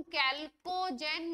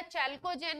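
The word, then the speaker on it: chalcogen: सबको मिला के हम कैल्कोजेन या चैल्कोजेंस कहते हैं। कैल्कोजेन या चैल्कोजेन इनको प्रोनाउंस करते हैं।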